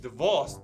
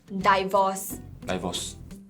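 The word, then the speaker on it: divorce: This is 'dih-vaws'. That's 'di-vide'. 'Dih-vaws' is the right answer. ‘Dissect’ – you don’t say 'dih-sekt', right? This is the right answer! 'Dih-vaws' 'Dih-vaws' 'Die-vaws' - 'Die-vaws' 'Dih-vaws' I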